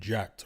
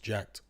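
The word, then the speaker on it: Jack3d: as an inverted uh they'll just use a number three as an inverted e i guess it's just supposed to be pronounced jacked cg says beterbiev has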